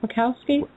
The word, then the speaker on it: Wachowski: Wachowski.